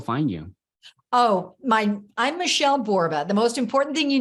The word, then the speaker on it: Borba: Oh, I'm Michele Borba. The most important thing you need to know is that I'm a 1L Michele. So it's Michele Borba, rhymes with Zorba.